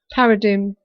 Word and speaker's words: paradigm: Paradigm. Paradigm. It's just I was pronouncing it when I shouldn't have done. Yeah, because it was like that. So it's paradigm, is it? Silent G.